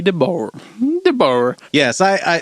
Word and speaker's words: Debord: by G Deo G deor deor yes I I so I've always pronounced his name g Deo I've heard some folks say dor I am a midwesterner